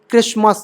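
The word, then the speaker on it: Christmas: कब साइलेंट रहता है टी साइलेंट रहता है जब एस टी ई एन आता है ये या फिर एसटी एल ई ऐसा कुछ आता है ठीक है जैसे क्रिस्मस एसटी आया लास्ट में क्रिस्मस पढ़ते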